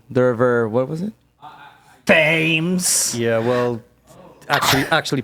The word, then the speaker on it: Thames: Thames. Yeah, well, actually pronounced Thames. Thames.